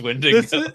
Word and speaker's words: Wendigo: It's Wendigo.